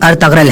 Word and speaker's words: ارطغرل: اس نام کا صحیح تلفظ ارطغرل ہے۔ ارطغرل ترکی زبان کا